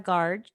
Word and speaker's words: Garg: Okay, so you guys can find Zarna at Zarna Garg.